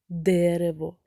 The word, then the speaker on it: дерево: слові дерево три склади на який склад падає наголос на перший дерево чи на останній дерево так в слові дерево наголос падає на перший склад тобто в слові дерево перший склад є наголошеним а другий і третій ненаголошеними дітки за наступними ілюстраціями спробуйте